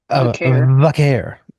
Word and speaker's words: Vaquer: Vaquer. Vaquer. All the white people say 20 different ways. It kind of pisses me off. Just say Vaquer without the O. Vaquero without the O. Vaquer.